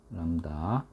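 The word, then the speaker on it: lambda: 인데요요 녀석은 람다 람다 비는 묵음이야 람다 자 다음 칸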